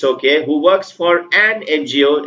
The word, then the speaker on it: NGO: works for a ngo you cannot say a ngo but because when you say end the pronunciation is this in okay so according to the pronunciation you're getting a vowel sound that of a so you say an ngo you cannot say a